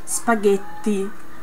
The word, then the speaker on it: spaghetti: you have to say spaghetti you have to put the tongue behind your teeth this and then you